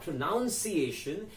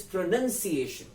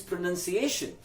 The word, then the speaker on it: pronunciation: into its noun form you take the O out so you change the spelling as well as the way you say it so the noun form of pronounce is not pronounced iation it becomes pronunciation why